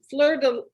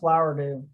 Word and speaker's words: Flowerdew: And I believe it's pronounced Fleur-de-Lis 100. Oh, Flowerdew? No, Fleur-de-Lis. Flowerdew. It's pronounced Flowerdew.